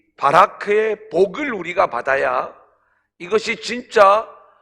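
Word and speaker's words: בָּרַךְ: 바라크, 바라크, 바라크, 바라크. 바락 이렇게 얘기해도 되지만 그냥 원어 좀 그대로 발음을 콩글리시 발음으로 바라크.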